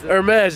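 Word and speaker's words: Hermès: Hermes? No. Hermes. H is silent.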